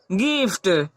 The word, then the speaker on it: gift: है, तो इसे हम लोग कैसे पढ़ते हैं, गिफ्ट।